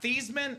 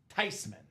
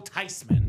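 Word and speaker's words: Thuney: "It's not Thesman. It's not Thyman. The proper pronunciation is Tyman."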